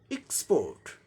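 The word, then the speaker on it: export: तो इसका यहाँ अब ये नाउन की तरह दिखाया जा रहा है, इसलिए पहले सिलेबल पर स्ट्रेस है, तो पहले सिलेबल को जोड़ देके बोलना है। एक्सपोर्ट, स्पोर्ट, एक्सपोर्ट, एक्सपोर्ट British में हो गया। अमेरिकन में क्या हो जाएगा? आर जो साइलेंट था वो आर साउंड आ जाएगा, क्योंकि अमेरिकन में कहीं साइलेंट नहीं होता है। तो यहाँ क्या हो जाएगा? एक्सपोर्ट, एक्सपोर्ट, र भी आ जाएगा।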